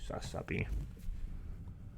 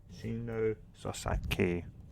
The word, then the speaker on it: Sasaki: That's apparently how you pronunciate her name, and yes, I'm not really that good with pronunciation, so I wasn't sure. It sounds like more so Shino Sasaki. Not sounds like, but that's that's to me how I pronounce it.